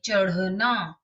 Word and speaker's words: चढ़ना: उस तरह से च अढ़ ना, उच्चारण सुनिए, चढ़ना।